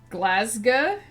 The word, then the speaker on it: Glasgow: it all over again glasa the glass part is pronounced like ass glass okay and the ow part so you don't do it like glasi oh if you're from